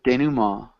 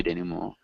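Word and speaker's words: dénouement: action, falling action, denouement, It's a denouement. denouement. Yeah, somebody who speaks French can pronounce it better than I can, but at least my teachers would say denouement.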